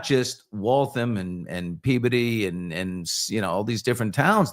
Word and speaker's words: Peabody: And can I also compliment you on your pronunciation of Peabody? Because Peabody.